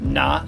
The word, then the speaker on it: Nah: I'm going to be at Hen Haas, spelled German, pronounced Pittsburgh, Haus. I'll be with Nah, N-A-H, who's pretty tight.